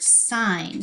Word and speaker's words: sign: gonna write this word sign so it's a tricky word magic see yes then I hear the I it has a silent G magic see G down